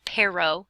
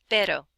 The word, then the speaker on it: pero: is pero, it's not pero, okay? Have you noticed? Hopefully by Spanish 2B you've noticed it's not pero, okay? Say it like the D in ladder, ladder, ladder, ladder, pero, pero, pero.